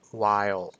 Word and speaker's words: while: ว่า ใน ขณะ ที่ เคล็ด ลับ ใน การ ออก เสียง คำ นี้ นะ ครับ ผม ให้ เรา แบ่ง ออก เป็น 2 พยางค์ ก่อน ก็ คือ วา แล้ว ก็ ย แบบ ที่ เขียน ให้ ใน ภาษา ไทย นี้ เนาะ w w แบบ